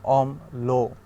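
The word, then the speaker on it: অম্ল: আসে রো, আর ল ফলাতে আসবে লো, যেমন অম লো, সুখ লো, এরকম। ব ফলা থাকলে ম ফলা এবং জ ফলার মতো উচ্চারণটা দ্বিত্ব হবে, যেমন মফলাতে ছিল কি আত, আত্মীয় না আত্মীয়, অর্থাৎ তটার দুইবার উচ্চারণ হয়েছিল।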